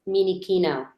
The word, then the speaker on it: Minichino: pronounce my last name. It's Minichino. Minichino? Yeah. Okay, Minichino. And we're actually live right now. So it's Geek to Geek number 16. And today I have Minichino here.